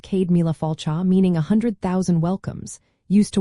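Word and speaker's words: Céad míle fáilte: You might also hear Cade Mile Folta, pronounced Cade Mila Falcha, meaning 100,000 welcomes, used to warmly invite someone.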